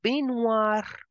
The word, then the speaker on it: baignoire: The G in the end, the G in the middle is for decoration. OI will give the sound of wa. Bathtub will be pronounced as la baignoire.